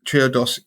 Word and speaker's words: Triodos: is a bank called triodos so Trio dos so I see what they did exactly we before the show I saidy how do you say this but the clues in the actual yeah 32 um triodos